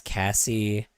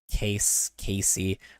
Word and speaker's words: Cassie: It's Cassie, not said Cassie, not Casey. I didn't say Casey. I hate it when people call me Casey.